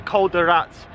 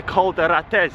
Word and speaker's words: Rates: I'm gonna head out to the Rates climb, not the Col de Rats, the Col de Rates. I keep pronouncing that wrong.